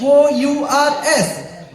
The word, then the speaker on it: hours: H O U R S. No, not it's ours. H is silent. Why? I don't know. It's silent.